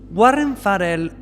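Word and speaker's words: Farrell: y musculoso al que probablemente se quería dar Warren farell así se pronuncia pero Warren farel opina que estas socializaciones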